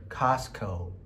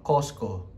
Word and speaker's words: Costco: Mga Amerikano, ang pronunciation, Costco. Pero pag Pilipino, Costco. So, either Costco or Costco.